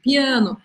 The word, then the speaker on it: piano: na frente de pronúncia em português gente fala um piano piano piano e se a em português ele não é muito sonoro já em francês eu tenho que fazer esse som bem aberto a piano piano e eu